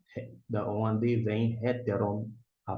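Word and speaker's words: ἕτερον: Aqui no caso é hetteron, a pronúncia termina com omiclon ni. Héteron, esse aqui tá se referindo a outro.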